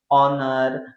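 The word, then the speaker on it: honour: यहाँ पे एच अपने आप में क्या है बच्चों? साइलेंट है, साइलेंट है। दैट मीन्स इसको हम क्या पढ़ेंगे? ऑनर, ऑनर।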